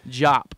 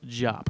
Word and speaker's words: Diop: by uh Des angana Diop that's what was happening jop by the way pronounced jop I don't he shouldn't